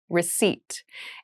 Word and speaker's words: receipt: a very interesting spelling there is a p in the spelling of this word but we do not pronounce it the pronunciation is receipt a receipt is a